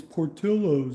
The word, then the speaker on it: Portillo's: It's Portillo's, that's the way it's said. In Italian, I guess Portillo's, the L's aren't silent.